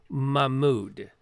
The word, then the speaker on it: Mahmoud: Is it Moha or No, I'm mispronouncing it. It's Mahmoud.